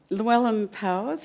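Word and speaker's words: Llewellyn Powys: Llewellyn Powers, is that how I say his name?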